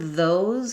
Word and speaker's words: those: So the word those has the Z sound.